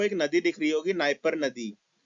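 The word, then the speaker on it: Dnieper: यहाँ पे आपको एक नदी दिख रही होगी, नाइपर नदी। नाइपर नदी में डी साइलेंट होता है इसलिए नाइपर नहीं नाइपर कहते हैं।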